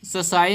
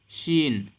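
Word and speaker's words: scene: लिखा है सीन तो इसको हम सोसाइटी नहीं पढ़ेंगे क्या पढ़ेंगे बल्कि एस को साइलेंट कर देंगे एस को नहीं पढ़ेंगे बल्कि पढ़ेंगे सिन सी से शुरू करेंगे चीन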